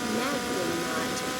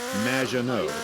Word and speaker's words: Maginot: Magdalene. Welcome to the show. Thanks, Amy. However, you have mispronounced my name. which rhymes with badge, as in duh, and no as in more than you. Maginot.